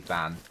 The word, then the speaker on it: Vanan: well van don't stress if you're really trying to say my name it's simply vanan okay I won't always